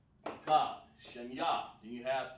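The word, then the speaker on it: אחד: You want to say in Hebrew 1, you say this, Akkad.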